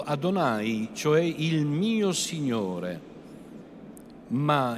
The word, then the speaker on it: Adonai: dio dell'isodo in ebraico il nome inesprimibile si pronuncia appunto Adonai cioè il mio Signore